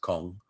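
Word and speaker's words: Kang: other one is uh kong daniel and i like his second name obviously and his first name kong is pretty awesome spelled k-a-n-g but pronounced kong uh he is a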